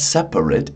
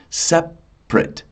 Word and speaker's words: separate: The the adjective is separate. Yeah. Did you hear that? the the middle uh the middle syllable disappears. It's not separate. It's separate. Yeah.